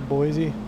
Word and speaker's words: Boise: Boise, that's how it's pronounced.